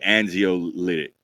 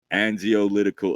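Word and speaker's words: anxiolytic: ] right there bro I'm gonna say angio lytic it has to do with anxiousness right but you probably say it like a Z and zio litical effects of repeated CVD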